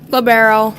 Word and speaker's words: libero: Is it pronounced Libero, or how do you pronounce it? Libero.